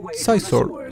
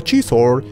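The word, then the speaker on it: Xizor: de ellas, está la entrada al palacio de Sizor. Chizor, ahí está, Chizor, se pronuncia Chizor.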